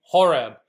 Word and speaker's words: Horeb: Possibly Horeb on the ancient map. That's how you pronounce it.